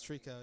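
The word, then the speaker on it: tricot: It's pronounced Trico, champ. Japanese math rock. It's a bunch of cute Japanese girls playing math rock. It's great. They pronounce it Trico. It's Trico, yeah.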